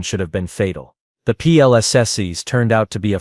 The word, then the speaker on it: PLSS: Your plss, the technician said, pronouncing it like plexes with the kind of enthusiasm usually reserved for root canal procedures.